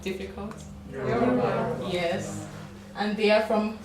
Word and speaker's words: Yoruba: Can you pronounce it? It's not difficult. Yoruba.